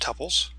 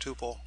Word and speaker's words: tuple: sometimes these are pronounced tupples it depends on your pronunciation uh usually dependent on which part of the country you're in East Coast often you hear the word t West Coast Tuple makes no difference let's